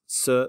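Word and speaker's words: 四: diagram I had uh the Chinese sir which is spelled s-i which means four or death depending on the tone so if it's so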